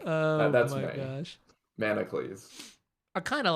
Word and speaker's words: Manacles: Manacles. I kind of like that a lot. I've heard a lot of incorrect pronunciations. It's like Hercules. Yeah, except Hercules, Manacles.